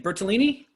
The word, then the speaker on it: Bertolini: So, we've got, how do you say your last name? Bertolini? Yes, you actually got it right the first time.